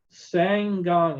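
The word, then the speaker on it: Ssangyong: a company that i'm sure i'm going to mispronounce sang gong it's s-s-a-n-g-y-o-n-g and the theme of this was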